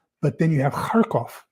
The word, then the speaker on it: Kharkov: But then you have Kharkov, K-H-A-R-K-O-V. So notice there's a K-H and there's a K in Kharkov. So the first one, K-H, is pronounced Kharkov. And then the K is pronounced K. So I tried to point that out to him.